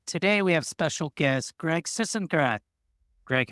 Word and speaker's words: Sisengrath: today we have special guest Greg Sisengrath. Greg, how are you? Did I say it right? Yeah, you did. Greg Sisengrath.